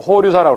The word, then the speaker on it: 호류사: 그리고 과거에는 일본의 법융사, 일본 발음으로 호류사라고 그러는데 호류사의 불당 벽면에 새긴 그림에서 금당벽화 이것도 담징이 그렸다 이러는데 최근은 아니라는 설이 나와서 이게 담징인지 여부가 확실치가 않아 현재.